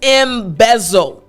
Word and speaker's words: embezzle: go over the pronunciation because the z z z sound can be just a bit tricky so again the word is embezzle m so i actually